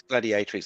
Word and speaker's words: gladiatrix: And Darth Plato reminds me it's Gladi A Tricks. Am I saying it right, Russ? It's gladiatrix.